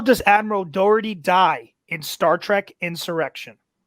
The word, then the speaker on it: Dougherty: the category of star trek how does admiral doherty die in star trek insurrection robert did i say it right sorry to interrupt but i just want to make sure so i don't confuse him yep dougherty dougherty you got it right okay five four three